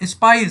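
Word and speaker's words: spies: Messengers went to एंड फ्रो एंड स्पीज kept a watch on official. तो messengers होते थे और ठीक है ना, स्पाइज, sorry I wrongly pronounce it's स्पाइज kept a watch on official.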